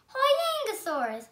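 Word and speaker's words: Huayangosaurus: I'm going to tell you how to pronounce it. Hoyangosaurus. Hoyangosaurus.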